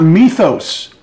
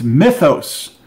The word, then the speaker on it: mythos: I keep saying people it's not Methos its mythos as a myth mythology not Methos song of Kadath location